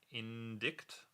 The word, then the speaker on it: indict: It's pronounced indict.